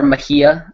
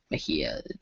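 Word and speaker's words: Mejia: old Brennan uh Brennan Maia is or Mahia sorry that's actually how you pronounce it um Mahia it's it's confusing but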